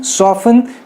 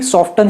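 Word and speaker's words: soften: फासन, match, ऑफन, सॉफन, सॉफन, सॉफन को मैं भी सॉफ्टन ही कहा करता था, लेकिन ये गलत है, इट शुड बी सॉफन।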